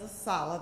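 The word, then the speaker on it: ASALH: our honor and we refer to ourselves as a solid that's how we pronounce our acronym to be asked to bring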